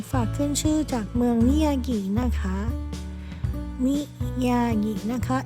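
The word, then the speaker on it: Miyagi: คะ มิยายิ นะ คะ m i y a g i นะ คะ บาง คน เ ออก เสียง มิยางิ นะ คะ แต่ จริง ๆ พระ มิว ไม่ ไม่ รู้ ว่า ออก เสียง ถูก หรือ เปล่า พระ มิว จะ ออก เสียง เป็น มิยิ นะ คะ เนี่ย ค่ะ เอ่อ อัน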